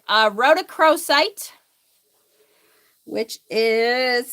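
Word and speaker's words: rhodochrosite: aola rose quartz Emerald I really like a Roc cro site which is spelled r h o d o c r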